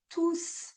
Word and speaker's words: tous: cas c'est un adjectif on ne prononce jamais le s on dira tous les jours ou tous les enfants, tous mes amis. Donc ce sont des noms avec des articles. Nous ne prononçons pas le S. Donc quand tous est un pronom, c'est-à-dire qu'il leur remplace des personnes ou des choses, on va prononcer le S.